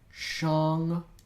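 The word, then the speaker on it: Shong: So the mantra is Shang Nama.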